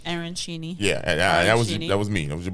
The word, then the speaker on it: arancini: We got the arancini balls, and they have what? that arancini. They Yeah, have there they have the pronunciation on their website.